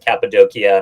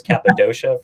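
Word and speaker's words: Cappadocia: And Capidokia, I'm glad you've uh taught me the correct pronunciation. I always thought it was Capidosha for some reason.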